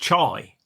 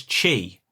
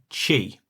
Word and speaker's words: Chy: that it was pronounced chai. But I think you'll find I'm 99% sure it is pronounced as chee. c h y or c h y, chee.